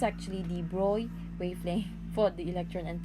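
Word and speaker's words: de Broglie: googled how to pronounce it it's not the bronte is how i pronounced it before it's actually the broi wavelength for the electron and protona shown here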